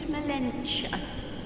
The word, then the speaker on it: Melentia: My name is Melentia. Rhymes with dementia.